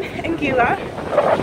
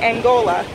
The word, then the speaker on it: Anguilla: Okay, so I'm in Anguilla, and it's spelled A-N-G-U-I-L-L-A. People keep thinking I'm saying Angola, like the country in Africa, but I'm not in Africa today.